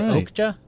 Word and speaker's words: Okja: Was it Okja? OKJA? Yeah. OKJA. Is that how it's pronounced?